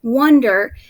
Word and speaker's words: wonder: and finally wonder now i noticed something about the vowel sound at the beginning of the word wonder now i see an o and i know that o can say ah and i know that o can say its name o but when i